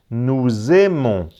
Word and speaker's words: nous aimons: eles vale la es juntar las dos palabras entre la s de la e la a Nous aimons nous aimons no se pronuncia final no le regarder des